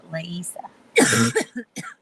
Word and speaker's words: Leisa: I hate mispronouncing people's names. I can't stand it. I'm going to get this right. Just like Lisa.